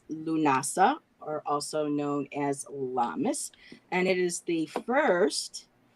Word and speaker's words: Lammas: It's called the Christianized version of it is called Lammas.